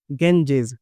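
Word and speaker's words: Ganges: बेटा इसको हिंदी में हम लोग गंगा बोलते हैं। लेकिन इंग्लिश में क्या बोला जाता है? गेंजेस। ठीक है? क्योंकि जो ब्रिटिशर्स थे उन्होंने इस तरह का नाम दिया। इस तरह का प्रोनाउंसिएशन दिया।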